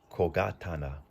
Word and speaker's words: 小刀: Now, the way we pronounce all of this is kogatana.